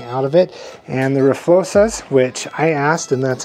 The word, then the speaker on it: RFLO-XA: And the RFLO-XAs, which I asked, and that's how they told me to pronounce it, are a competitor to these inverted forks.